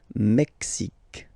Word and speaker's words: Mexique: X, X, Mexique. It's really the X. Huh? Le Mexique. And then remember this Q-U-E, it's only K, K.